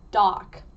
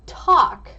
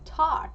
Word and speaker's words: 떡: So, I went to the store and I didn't know how to pronounce this thing. So, I just said, "Dock."